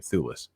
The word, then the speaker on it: Thewlis: I think it's how you say his name, Thewlis.